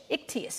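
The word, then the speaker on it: ἰχθύς: But you see, what happens here is, for the Greek word fish, ichthys is how it's pronounced.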